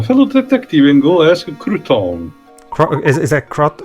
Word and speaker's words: Crouton: If it's rumors you're after, take a tip from a fellow detective and go ask Crouton. Is that Crot? How do you pronounce that name, dude?